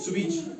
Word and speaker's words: switch: इसी तरह से MATCH, match, T silent, BUTCHER, बचर, T silent, CATCH, catch, T silent, SWITCH, स्विच, CH से पहले टी तो टी साइलेंट।